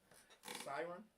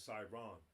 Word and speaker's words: Siron: Siren? Close. I said it wrong. It's Siron.